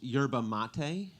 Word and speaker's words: yerba mate: um so today I found out that it's pronounced yerba mate I thought it was pronounced yeah but my